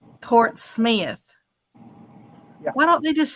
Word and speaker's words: Portsmouth: Mr dreadnick he's saying it's spelled Portsmouth but around here it's pronounced Port Smith why don't they just